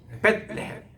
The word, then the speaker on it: 베들레헴: 근데 그게 원래 발음은 벳레헴이에요. 벳레헴. 우리가 베델 할 때도 보면 베델 이렇게 하지 말고 벳엘 이 발음이 맞고 벳세메스 할 때는 벳세메스 벳을 띄어서 읽어야 됩니다. 그리고 레헴 할 때도 우리 따라합시다. 벳레헴. 레헴은 거기 액센트가 있어요.